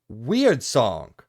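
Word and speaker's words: Wyrdsong: a new RPG called Weird Song. I believe is the way you say that, but it's spelt really weird.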